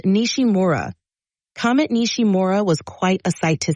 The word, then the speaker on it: Nishimura: you pronounce that for us please sure it's pronounced nishim MOA Comet nishimura was quite a sight to see it's always